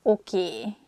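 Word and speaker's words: oké: This word comes from English. Probably it's easier for Hungarian speakers to pronounce it that way, so we just say a sound A at the end, so it sounds okay instead of okay.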